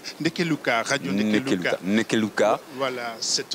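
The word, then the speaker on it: Ndeke Luka: Je vais vous laisser le prononcer. Nekeluka, radio Nekeluka.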